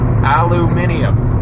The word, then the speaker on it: aluminium: List of elements: neon, argon, boron, Einsteinium, beryllium, aluminium. That's how the Brits pronounce it. Aluminium.